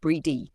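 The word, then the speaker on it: Brigid: Bridg pronounced bridged. Breedy or G is one of the most beloved goddesses of Celtic tradition.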